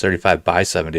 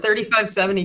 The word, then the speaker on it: 35x70: We call it 3570 Golf Co. So, you just skipped the X in the middle there. The X is for fun. The X is silent. It's a silent X.